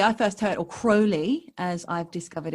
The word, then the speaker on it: Crowley: yes anyway yours not mine um yeah so crowley i first heard or crowley as i've discovered it's actually pronounced guy first what we've got to talk